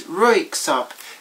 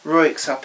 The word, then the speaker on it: Röyksopp: So in my mind, I always pronounce these as per German pronunciation, but they're actually, I think, Norwegian. But for now, unless I know better, Röyksopp is what we're going to call it.